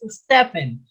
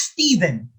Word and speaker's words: Stephen: 24 stephen crane said it's not pronounced stefan it's stephen stephen crane said do